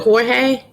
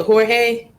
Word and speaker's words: Jorge: Is it Jorge? I want to make sure it sound. I want to say that's how you say it, Jorge. Oh, can you? Oh, okay. So I'm not pronouncing it right. Okay. You're right. You're so right. Jorge is in Spanish.